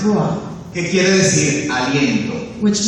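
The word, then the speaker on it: רוח: En hebreo, la palabra espíritu In Hebrew, the word spirit se dice ruah, is pronounced ruah, que quiere decir aliento.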